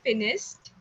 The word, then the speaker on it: finished: And just a little bit of a correction with your pronunciation of finished. It's, you said finished. So again, sir and sure sound, you have to say finished.